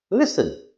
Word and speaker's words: listen: Listen, the T is silent.